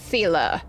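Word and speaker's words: Seele: Miss Zila, good thing you showed up when you did. My heartfelt thanks. Thank goodness I finally found out how to pronounce her name. It's Sila.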